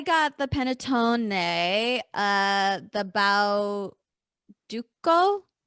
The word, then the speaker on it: Bauducco: the panettone uh the bao duco i think it's a hard c the best that's the